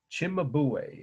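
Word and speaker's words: Cimabue: virgin and child enthrone Chimay is the artist name that's how you pronounce it in at least I heard it pronounced that way in Italy c i m a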